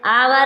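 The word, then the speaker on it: hour: य क्या है सी साइलेंट क्या है सी silent science science science Saint मीस इत्र साइंस मीस विज्ञान सीन सीन मींस दृश्य आवर आवर मींस घंटा ओनर ओनर मींस इज्जत इज्जत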